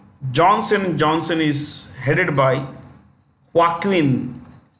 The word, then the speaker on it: Joaquin: Johnson is headed by Joaquin this J is pronounced with the ha H okay Joaquin duato that's the name